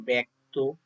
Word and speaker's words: ব্যক্ত: যেমন শব্দের প্রথমে জফলা যুক্ত ব্যঞ্জন থাকলে জফলার উচ্চারণ এ এর মত হবে। যেমন ব্যক্ত ব্যর্থ ব্যাগ্র ব্যবস্থা ন্যাস্ত